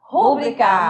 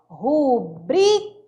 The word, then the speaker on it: rubrica: gente, né, enche o pulmão, vou falar, rúbrica. Mas só que a pronúncia correta não é rúbrica, Amadinho, porque rúbrica não é proparoxítona, sim paroxítona. Então vai ser rubrica. O brique vai ser mais forte.